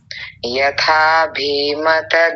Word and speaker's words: यथाभिमत: जी स्वप्न निद्रा जानामवा यथा भीमत ध्याना भकार पर इकार जो है ह्रस्व इकार उसको थोड़ा छोटा करेंगे आप लंबा कर गए थे दीर्घ में बना लिया था यथाभिमत ध्याना आपने क्या